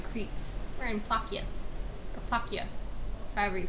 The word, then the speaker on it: Plakias: We're in Plakias, or Plakia, however you pronounce it. Most people say Plakias, but I was told it's pronounced Plakia.